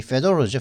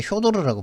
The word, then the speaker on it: Fedor: 이게 페도로죠, 페도로. 보통 일본 사람들 이거 갖다 효도르라고 발음을 하더라고요. 효도르, 에밀리아노, 페도로, 에밀리아노 뭐 저거 하는데 이게 페도로더라고요. 이름이.